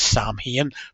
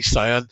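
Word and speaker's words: Samhain: Loomis, refers to it as Sam Hain, pronouncing it incorrectly. So for the rest of many, many decades, I referred to it as Sam Hain as well. But it's actually Sion, and that tradition was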